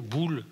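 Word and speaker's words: Boel: la pita robe boule on va l'appeler bull à l'époque parce qu on francise est aussi bien les italiens que les flamands cbo el1 donc bbl si on prononce comme il faut bull à la française extraordinaire et la modernité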